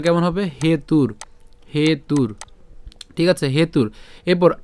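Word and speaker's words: হেতুর্: হেতুর এখানে রেফ আছে আমরা রেফের উচ্চারণটা র হসন্ত পর্যন্ত উচ্চারণ করে ফেললাম তাহলে উচ্চারণটা কেমন হবে হেতুর হেতুর ঠিক আছে হেতুর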